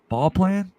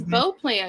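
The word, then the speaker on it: Beauplan: sure that's all plan ball plan Abraham ball plan I think that's how you say it's B plan because usually like Bea is bow oh perfect then B plan like French sounds better Louisana better than what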